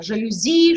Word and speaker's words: жалюзи: языка все тоже прозрачно жалюзи шоссе диспансер мы ударение ставим на последнем слоге языке австралии ударения преимущественно